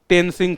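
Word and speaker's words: तेनज़िंग: है उसका नाम था तेनजिंग ठीक है वैसे तीन सिंह होता है वो क्योंकि नेपाली लोग जो है इस प्रकार से उच्चारण करते हैं तो तेनजिंग हो गया धीरे-धीरे वास्तव में यह टेंसिंग था ठीक है तो ये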